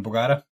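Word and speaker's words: Bogotá: Bogota. There's an accent on the A.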